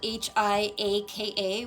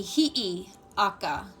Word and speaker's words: Hi'iaka: It's spelled H-I-A-K-A, which would sound out Hiaka. It's not correct. It should be Hi'iaka. Hi'iaka. So it should be H-I, the Okina or apostrophe, and then another I, and then A-K-A.